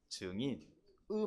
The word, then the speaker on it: 증인: 정인이 아니고 증인.의 발음을 잘하시기 바랍니다.